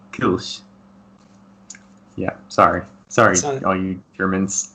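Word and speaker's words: Kölsch: But the American style, the American pronunciation would be Kolsch. But if you were German, you'd probably say something like Kolsch.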